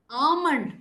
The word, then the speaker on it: almond: can see that oh I have highlighted all the sounds all the letters that are silent okay subtle Rendezvous debris debut Memoir okay plumber almond all the ones in marked in red are all silent cool okay right now